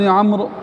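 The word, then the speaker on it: عمرو: اے عبداللہ ابن عمر، عمر جو ہے وہ غلط تلفظ ہے، جب عمر لکھا ہو اور آگے واو ہو تو اس کو عمر نہیں عمر پڑھتے ہیں، تو اے عبداللہ ابن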